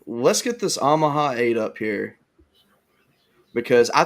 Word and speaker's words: Omaha: wrong say it again Omaha is that how they say it in Alabama Chris say Omaha Omaha it's ahaha well okay you're saying you're saying ahaha it's not ahaha it's Omaha I never pronounce it